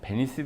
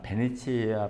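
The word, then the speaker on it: Venezia: 왔습니다 자 여기서이 비엔날레 명칭을 어떻게 불러야 되느냐 베니스 비엔날레가 맞나 베니치아 비엔날레가 맞나 예 사실 둘 다 맞죠 근데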